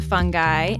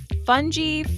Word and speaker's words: fungi: And should I call them fungi, fungi, like, how do you pronounce it? Different people from different part of English-speaking countries say the word fungi, fungi, fungi, and they're all valid.